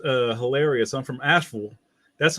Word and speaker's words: Asheville: I'm from Asheville. That's how you say it, Asheville. Not Asheville.